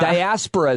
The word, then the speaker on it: diaspora: Diaspora is how it's pronounced.